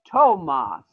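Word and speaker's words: Tomás: Thomas? Tomas. Is it S at the end? The Spanish pronunciation of Thomas is Tomas.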